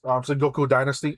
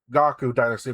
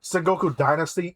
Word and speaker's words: Sengoku Dynasty: Sengoku Dynasty. Am I Yes. pronouncing that right? Yes, Sengoku Go Dynasty. to. Yes. I heard someone say Gaku Dynasty, but I'm sure Those that's people wrong. are insane, and they need to not.